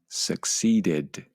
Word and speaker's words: succeeded: Okay, and finally, the final 3 verbs all had the id sound at the end. So you should have said accepted, decided, and succeeded.